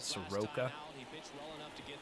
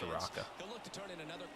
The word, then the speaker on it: Soroka: how you say it Soroka I don't know why I thought it was Soraka this one I swear I've heard it pronounced Soraka before misses with the 2-0